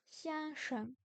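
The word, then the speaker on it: 先生: ok ensuite monsieur monsieur le X se prononce comme un S mais avec le don de la langue point Yann se prononce comme Yen 先生 Xian Xiang 先生 Xian Xiang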